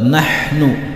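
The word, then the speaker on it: نحن: Ha bersih berharokat sukun, maka harus dibaca jelas. Nahnu, bukan nahnu, tetapi nahnu, karena di sini huruf ha, bukan huruf ha. Huruf ha dibaca jelas, bersih.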